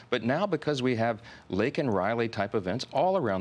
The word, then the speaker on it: Laken: with President Biden, and he mentions Laken Riley's name, though he mispronounces it, says Lincoln.